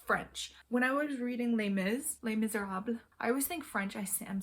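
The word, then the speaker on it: Les Misérables: When I was reading Les Miserables, I always think French, I'm saying it wrong, but no, it just ends abruptly. Les Miserables.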